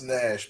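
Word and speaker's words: Gnash: tooth nash gash g-n-a-s-h yeah it's nash but the g is silent but it's like an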